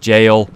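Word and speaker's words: gaol: realm in the jail area apparently G is pronounced jail um seems a very Irish thing right okay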